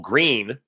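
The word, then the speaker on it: Gruene: there's a there's a city called green but it's spelled g-u-e-r-n-e or so you're like gurney no no green trust me on this and then there's there's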